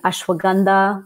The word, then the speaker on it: ashwagandha: And so I've been recommending ashwagandha. That's an herb from India, spelled ashwagandha as well, pronounced ashwagandha as well.